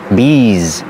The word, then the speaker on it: bees: bees in this Garden remember one bee and two bees the S makes the zebra sound bees there are a lot